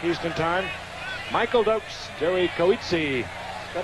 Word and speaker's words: Coetzee: Michael Dokes, Jerry Coetzee. Is that how you say it? Coetzee from Cleveland, Ohio.